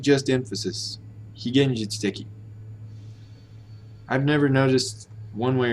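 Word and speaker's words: 非現実的: I've noticed people tend to pronounce that as higenjitsuteki. Wrong, wait. Higenjitsuteki. Long he. Higenjitsuteki.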